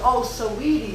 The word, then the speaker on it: Saweetie: Saweetie, yes.